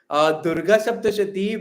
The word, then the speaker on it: Durga Saptashati: Durga Saptashati, when you get under the Guru, it changes.